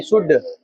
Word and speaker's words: should: शुड का spelling SHOULD होगा, शुल्ड नहीं, शुड।